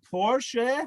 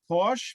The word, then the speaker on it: Porsche: do that laser zergood the car is called porsche not porsche because in germany you pronounce every letter every lesson in france you pronounce some of the letters but in germany you literally if it's going to be there why would you not pronounce it so spate the two